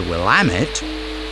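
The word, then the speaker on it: Willamette: The Wamit, uh, being British, I had to learn the correct pronunciation, is much greener than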